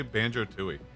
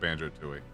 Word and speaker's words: Banjo-Tooie: I also did not play Banjo-Tooie. I played Banjo-Kazooie, but not Banjo-Tooie. Well, that's the proper British pronunciation.